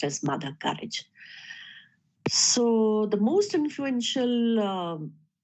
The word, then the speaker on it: Courage: mother courage Sometimes some you will find people pronounce it as mother kurage but I for better understanding I'll choose it to be pronounced as mother courage so the most influential um uh part we